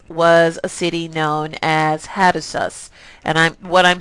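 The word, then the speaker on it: Hattusa: their empire um was a city known as hatus and I'm what I'm saying is spelled h a t t s a s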